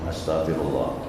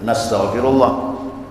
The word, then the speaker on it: Astaghfirullah: akbar ditambah lagi istigfar kalau sendiri bacanya astagfir Astagfirullah tapi kalau kita membimbing jemah nastagfirullah kami mohon ampun kepada Allah tapi kalau bacanya masing-masing bacanya Astagfirullah jangan baca nagfirullah macam syahadat Ashadu Alla